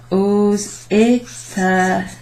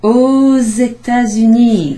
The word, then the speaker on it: aux États-Unis: So, elles vont aux États-Unis. There's a little kind of Z sound there.